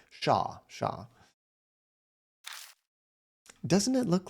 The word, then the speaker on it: Shaw: And Shaw is sort of like Sean, but without the N sound at the end. Just like a long, oh, okay, thank you for that. It's like Shaw.